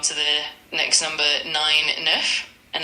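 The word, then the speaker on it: neuf: Nerf, and it's spelled NE UF.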